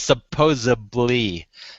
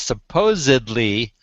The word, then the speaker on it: supposedly: the word supposedly supposedly there is no such word as supposedly there's there is supposedly it's got a D not a b but they say supposedly and they go right over it you know it's